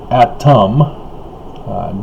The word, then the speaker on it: Atum: Grand Heavenly Father Adam, Atum, though yes, phonetically the same as Adam, to keep them separated,